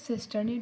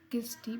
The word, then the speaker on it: cisternae: This is cisternae. Do not pronounce this as Christie, because Christie is a structure which is present.